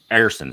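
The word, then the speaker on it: Ersson: Man, did I want Sam Ersan is how it's said.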